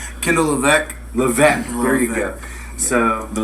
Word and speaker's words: Levesque: Levesque.